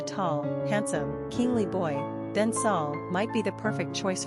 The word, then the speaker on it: Saul: pray for a tall, handsome, kingly boy, then Saul might be the perfect choice for you. Quick facts on Saul. Gender, boy. Origin, Hebrew. Number of syllables, 1. Ranking popularity, 439. Pronunciation, Sawl.